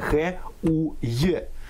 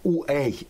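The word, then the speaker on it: Хуей: я уточнював у нього прізвище читається саме х у й не уей Вибачте будь ласка я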